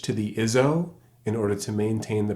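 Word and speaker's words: hizo: The pronunciation remains the same, iso, but I spell it H-I-Z-O.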